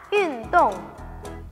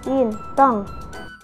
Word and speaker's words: 运动: Bahasa Mandarin dari olahraga adalah yun tong. Olahraga, yun tong.